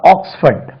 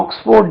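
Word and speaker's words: Oxford: இது ஃபோர்ட் இல்லைங்க, ஆக்ஸ்ஃபர்ட், ஆக்ஸ்ஃபர்ட், ஆக்ஸ்ஃபர்ட். ஆக்ஸ்போர்ட்னா இப்படி எழுதணும், ஃபோர்டு, ஆக்ஸ்போர்ட். நம்ம ஆக்ஸ்போர்ட் டிக்ஷனரி இருக்கு, ஆக்ஸ்போர்ட் என்று உச்சரிக்க கூடாது, ஆக்ஸ்ஃபர்ட் advance learners dictionary, ஆக்ஸ்ஃபர்ட்.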